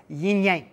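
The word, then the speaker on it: yin yang: you've heard of yinyang actually the proper way to pronounce it is yinyang because there is no disconnection there is no Yin and Y they cannot be separate they cannot be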